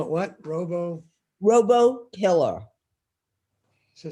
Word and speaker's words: RoboKiller: RoboKiller. So spell that, please.